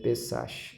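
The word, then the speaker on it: פסח: Se escreve Pessach, mas se fala Pessa.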